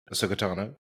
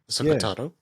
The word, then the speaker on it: Ahsoka Tano: Do you notice how they say her name like just one word? Ahsoka Tano. There's no break there.